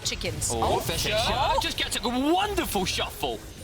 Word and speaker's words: ghoti: Fish. But it's spelled GHOTI. That says fish? So if you take the GH from enough, the F, and then O from women, which is I, and then okay, your language is really weird, man.